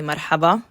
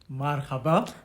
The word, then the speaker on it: marhaba: So, to say hello, you say marhaba. Marhaba?